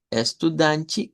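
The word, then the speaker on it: estudante: Usted escoge si lo dice como is danchi, estudanchi o es tu danchi.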